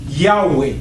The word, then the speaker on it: Yahweh: On écrivait le nom de Dieu, c'était YHWH. Writing the name of God as YHWH. Et eux, dans leur langue, ils prononçaient ça Yahweh. And in their language, they could pronounce it as Yahweh.